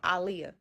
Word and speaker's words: Aaliyah: So, first and foremost before I get started, I am was and still am a big Aliyah fan cuz that's how she pronounced her name. Aliyah, I'm talking about baby girl, better known as Aaliyah.